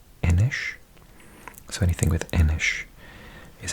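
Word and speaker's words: Inis: watch my videos, you'll have heard me mention previously that this word in Gaelic, so in Scotland and Ireland, is pronounced Enish.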